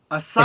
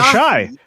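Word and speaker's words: Asahi: Uh Mark Dailyaly is cracking open a Japanese beer called Asai. Ashai. Ashai. Oh, Ashai. Is that how it's pronounced?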